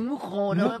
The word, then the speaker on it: Mouscron: Mouron on dit Mocron. Prononce pas le S.